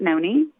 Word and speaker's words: Noni: is short for anonymous, which I pronounce it Noni. But, like my best friend always says, it's Nani.